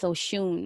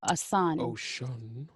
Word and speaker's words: Oshun: anyone is familiar with oshun or some people would say a son there are a couple of different ways people like to pronounce that no it's literally different